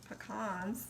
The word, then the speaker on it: pecan: here to tell you the right way to say it's pecan lose that that's how we say it Louisiana and Alabama all right so you